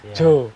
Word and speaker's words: Djo: Nama saya kan ada di semua yang huruf J itu kan ada D-nya di Jakarta ya kan.